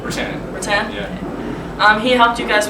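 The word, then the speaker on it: Rutan: Now you have to correct me if I say his name wrong, but Erik Olson, right? Rattan.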